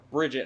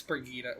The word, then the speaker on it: Brigitte: But the other one is someone that you see me play as a lot, Brigitte. Yep. Or Bridget, how some people pronounce it. It's Brigitte.